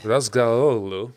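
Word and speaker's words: Razgatlıoğlu: I mean, speaking of BMW, Top Rack, Razgalolu, which is actually how he pronounces his name.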